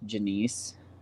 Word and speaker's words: Genesee: But I swear it's pronounced Janice.